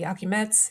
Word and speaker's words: Iakimets: His name is Anatoly Yakimets.